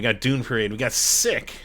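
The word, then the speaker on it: Ssik: Dune parade we got sick I think that's how this pronounced s-s-i-k uh and John Casey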